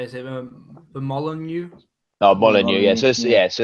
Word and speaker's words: Molineux: Oh, Molineux, yeah.